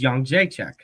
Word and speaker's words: Jędrzejczyk: Her last name is Jędrzejczyk, but I can pronounce it.